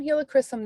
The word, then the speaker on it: helichrysum: so we're getting some helichrysum this month that is how you say it by the way if everybody always asks